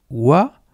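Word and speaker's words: 和: El primer kanji se lee wa y el segundo kanji se lee yo.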